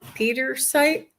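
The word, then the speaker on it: Pietersite: And this is uh uh I guess Pety Petersite Pete. I don't I think that's what it's called. Do you know how to pronounce that? I can't hardly see it. Oh, this one. Peter site. Peterite.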